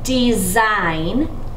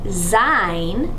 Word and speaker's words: design: is someone who climbs do you notice that in design and climber both of these have syllables that would appear that they should be short but the vowel is actually long this is the design